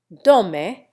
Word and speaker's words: Domme: Domme rhymes with foam.